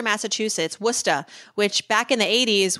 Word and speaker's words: Worcester: how to communicate and we were living in Worcester Massachusetts wora which back in the 80s was pretty rough